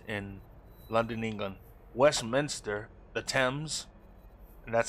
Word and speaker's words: Thames: Westminster, the Thames, and that's how it's pronounced, not the Thames, it's the Thames.